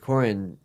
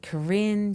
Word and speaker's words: Koren: yeah see Corin yeah with with Corin it was I'd say mispronounced first day of school 100% of the time absolutely you too yep what what did they call you H I'd get Karen Karen Karen every every